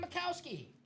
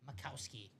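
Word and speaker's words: Majkowski: The Pro Bowl quarterback, Don Mikowski. Nice hit, Michael. What's the spelling of Mr. Mikowski? M-A-J Kowski. The J is silent.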